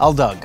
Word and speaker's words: Aldag: Julian's last name is pronounced? Aldug. Aldug.